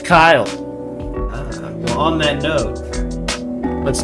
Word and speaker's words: Kille: is Kyle yes I thought it was Killy for a decade but apparently it is pronounced Kyle I'm on that note